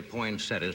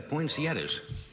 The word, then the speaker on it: poinsettia: I would say poinsettia poinsettias and you I would like to correct with me every year because it's point at points poinsettias poinsettias and you said it wrong I'd say you said points yes this man's not